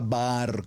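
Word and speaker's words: בר: Los dejo como tarea, usted estúdielas, por favor, que son la palabra bar, como suena, B larga, B labial, A-A-R, bar.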